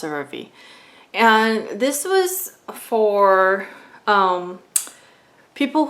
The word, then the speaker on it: CeraVe: I think it's pronounced CeraVe.